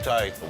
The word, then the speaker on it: charcuterie: How do you pronounce that one? Charcuterie? Charcuterie.